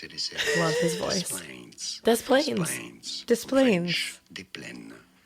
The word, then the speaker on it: Des Plaines: Des Plaines.